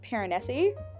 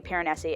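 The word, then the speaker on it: Piranesi: read in the book Pyreneesi. Pyreneesi. Pyrenees sounds wrong, even though that is how everybody in the world seems to be pronouncing it. I think it should be Pyreneesi.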